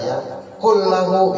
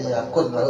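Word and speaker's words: يكن له: idgham bi gunna juga ya. Kul lahu yakun lahu juga sama tuh. Jangan dibaca yakun lahu tapi yakul ya. Walam yakul lahu kufuwan ahad.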